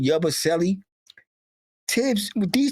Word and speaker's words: Yabusele: How do you pronounce that last name? Yabusele.